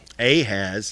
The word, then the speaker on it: Ahaz: at all but Isaiah I I has a has is how you pronounce it a has I will